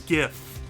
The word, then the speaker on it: GIF: i'm sorry gif it's the word is gif it's a hard g i don't care if the inventor says otherwise he's wrong it could not be